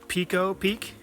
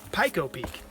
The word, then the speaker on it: Pico Peak: It's not Pico Peak, but Pico Peak here in Vermont.